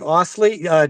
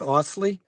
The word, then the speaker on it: Ostley: Um, guest star tonight today, um, Gabe Osley. Did I pronounce that right? Gabe Osley. That's right. Yep, that's right. Some people say the T, some people keep it silent.